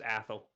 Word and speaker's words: Athel: Athel is actually really easy to pronounce. Just pretend the E is not there. It's just Athel. Ah, yes.